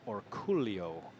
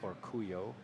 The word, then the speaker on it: Orcollo: gonna get paid and in the Philippines his name would be pronounced or Coolio but I don't think he'd complain if you say or Cuyo or something similar to that like the labyrinth spanish-speaking